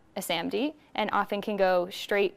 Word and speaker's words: SaMD: can evaluate just this product and this is pronounced samd and samd are pretty interesting and uh there's